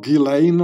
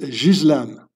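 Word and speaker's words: Ghislaine: It's so her name is not Gileain or whatever you pronounce it. It's a French name. You pronounce it Jizlan.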